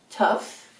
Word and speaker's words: tough: you pronounce l-a-u-g-h-e-s laugh says n have you pronounced t-o-u-g-h-e-s tuff how do you pronounce e-n-o-u-g-h enough how do